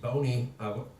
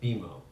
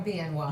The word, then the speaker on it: BNY: Lavine head of investment strategy and equities at Bony Wait a minute it's BNY but it's Beimo you pronounce Bimo right but we're BNY but you're not Bony Okay. We are BNY.